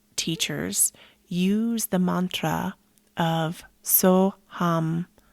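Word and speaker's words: Soham: use the mantra of soam so ham it's spelled like s o h a m like soam some people say soam soam soam and that is the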